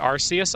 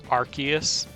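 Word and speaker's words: Arceus: You pronounce it Arus. I think that was the first like official pronunciation, but then cuz in like uh wasn't it Pokemon Battle Revolution, they pronounced it Arus, but then after that they started pronouncing it Archus, and now everyone's just confused about everything.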